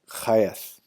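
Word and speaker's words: חית: key 7 The Chariot chafe and as in help value eight is pronounced hayath it means a field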